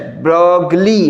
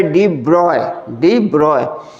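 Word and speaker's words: de Broglie: Small डी then dash ब्रॉगली, ऐसे ब्रॉगली, but spelling याद रखने के लिए, बट प्रोनाउंसिएशन जो होता है डी ब्रॉय।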